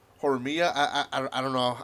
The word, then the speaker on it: Horimiya: And this is Horimiya. I'm making it sound like it's Spanish, but it's not. Horimiya.